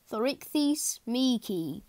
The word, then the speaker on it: Thorichthys meeki: Pronunciation, Thorichthys meeki.